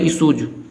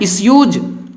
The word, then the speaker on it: issues: कुछ लोग इसको पढ़ते हैं इशूज, लेकिन आपको पढ़ना है इश्यूज, ISSUES, इश्यूज।